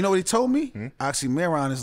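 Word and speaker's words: Oxxxymiron: Say it like that. You didn't know. You got to roll it hard. Yeah, nigga. Oxymoron. Oxymoron.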